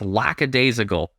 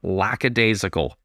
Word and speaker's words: lackadaisical: And yes, it's lackadaisical. Lax is how it's abbreviated, but lackadaisical. Learn something, Lee Montagna. I like most things you do. That pronunciation is not one of those things.